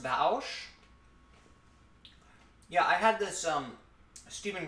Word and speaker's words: Vaush: It's pronounced Vaush.